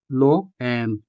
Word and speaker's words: loa: The stress in these examples, bao, to-o, and loa, falls on the lone syllables, o in bao, also o in to-o, and a in loa.